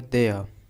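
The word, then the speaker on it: there: अब इसमें देखिए देयर, इसमें जो आर है वो साइलेंट होता है, इसमें र नहीं पढ़ते, सिर्फ पढ़ेंगे देयर, देयर, देयर आर नो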